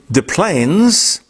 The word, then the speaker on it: Des Plaines: Des Plaines. Okay. It's like the plane.